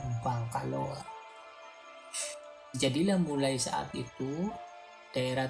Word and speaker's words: Bangkaloa: Namun karena pelafalan ya pemirsa, pelafalan ini kan kalau mengucapkan Bangkelo ini kan susah gitu, sehingga masyarakat akhirnya mengucapkannya dengan Bangkaloa, kan begitu kan enak, lebih enak kan, Bangkaloa.